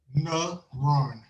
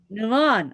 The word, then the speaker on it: NaRon: know your first name but how do you pronounce it nuron nuron okay nuron I'm going to get that straight